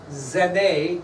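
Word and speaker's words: Genêt: So, on top of all this issue we're in April of 1793, France sent their foreign minister, Edmond Genet. It's not spelt that way, but it's pronounced Genet.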